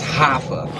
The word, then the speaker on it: Raphael: His name is Raphael, but you don't pronounce the R. So it's like an H, so it's Hafa.